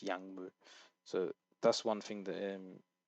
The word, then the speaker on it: 약물: So when you have a 기억 and a 미음, obviously it's 약물.